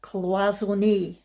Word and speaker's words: cloisonné: Oh, by the way, I looked it up on the internet and apparently you pronounce that cloisonné. Cloisonné.